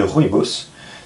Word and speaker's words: rooibos: vous allez trouver euh des sachets d'infusion de rboss donc ça s'écrit r o o i B s je